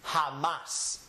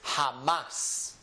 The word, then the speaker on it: jamás: So anytime I see a word in Spanish, I will pronounce this letter as if it's the English H. So in this word, it is pronounced jamás.